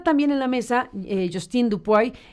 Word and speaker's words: Dupuy: Y está también en la mesa Justine Dupuy, Dupuy, ¿cómo se pronuncia bien? Dupuy, perfecto. Dupuy.